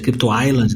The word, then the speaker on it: Crypto Island: Se pronuncia Crypto Island, né?